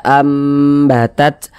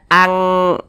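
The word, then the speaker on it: أنبتت: nih menjadi huruf mim kita baca ambatat Jangan dibaca Ang dibaca an kita baca An batat An jangan tapi diubah menjadi huruf mimah am batat seperti kita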